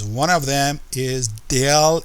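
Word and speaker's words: ∇: has several of names one of them is del f okay this is pronounced del del f another name for this thing is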